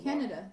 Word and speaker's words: Candida: No, because I heard that there's two pronunciations, the American and the British. Okay. And the British is Candida.